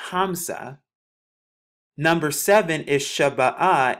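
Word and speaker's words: خمسة: five would be pronounced kamasha in arabic it's pronounced hamsa number seven is shabba ah in the ancient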